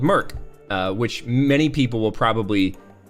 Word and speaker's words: mIRC: it's m-i-r-c Hina mirc we called it Merc I think people usually pronounce mirc or IRC but I called it Merck and so did everybody else in the military um so yeah uh